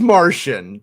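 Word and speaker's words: Marchion: a r c h i o n it's Martian they just took Martian and pronounce it like okay okay Maron Maron Martian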